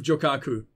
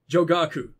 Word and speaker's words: Jogaku: visited this part of jokaku that's not how you pronounce that jagaku why is that so hard to say jogaku you've probably visited about